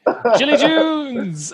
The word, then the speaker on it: Gilets Jaunes: Because like the Gilets Jaunes in particular, like stop pronouncing the end of the word. We don't do that in French. I'm so sorry. No, don't, Kieran, don't listen. Don't listen to the French. Gilets Jaunes.